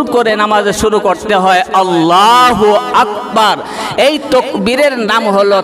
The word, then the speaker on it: আল্লাহ: বেশি সওয়াব প্রদান করবেন সুবহানাল্লাহ নামাজ শুরু করি আল্লাহু আকবার সবাই পড়েন জোরে পড়েন আল্লাহু আকবার শুদ্ধ